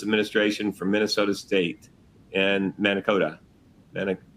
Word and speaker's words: Mankato: from Minnesota State and Mankato. Mane- How do you say that, Mike? Mana- Mankato. But, close. Mankato.